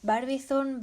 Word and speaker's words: Barbizon: a ir ligado a la escuela de barbizón barbizón bar visión como no queráis pronunciar barbizón es el nombre de un pueblecillo